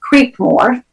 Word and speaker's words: Creekmore: an with an E creep more spelled like it sounds creep more m o